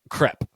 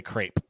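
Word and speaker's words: crêpe: Crepe. And so I know, like, in the States we say crepe, but here people know it's crepe.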